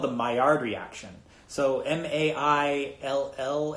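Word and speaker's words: Maillard: that it's it doesn't it's not pronounced like it's spelled I think it's a French word so the my our reaction is a is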